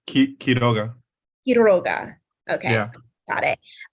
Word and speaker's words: Quiroga: Yes, Okay, it's Quiroga. Quiroga. Okay, Yeah. got it. You have 5 minutes when you're ready. All right. Hello, everyone. I'm Quiroga.